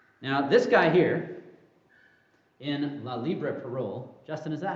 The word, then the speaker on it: La Libre Parole: Now, this guy here, in La Libre Parole, Justin, is that how I pronounce that? That's right? Yes, I got French, thank you. Okay, so La Libre Parole, Edward Drummond, is that right?